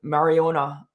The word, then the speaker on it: Majorana: breaking news of what Microsoft has done with Mariana 1, and that's the way you pronounce it.